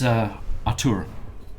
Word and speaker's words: Atur: My name is Atur. Cat. Ator? Atur. Ator? How do you spell that?